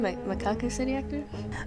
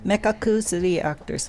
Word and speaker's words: Mekakucity Actors: going to talk about the famous or infamous macaca City actors is that the correct pronunciation mekakucity actors mekakucity actors mekakucity actors that's actually the real pronunciation but